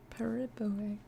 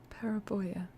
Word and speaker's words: Periboea: By Periboe. Rosy Fingered Dawn is a weirdo. Periboea.